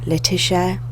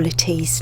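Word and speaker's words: Lettice: the oldest of whom lettuce sometimes pronounced latisha or Latisse Newell's would later be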